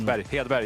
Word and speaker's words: Hedberg: Hedberg, yeah.